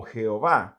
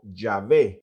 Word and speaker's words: Yahvé: Ahora, hoy en día muchos han afirmado que la mejor manera de pronunciar el nombre de Dios no es como Jehová, sino como Yahvé.